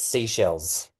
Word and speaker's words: Seychelles: I found out how to pronounce that. It's seashells.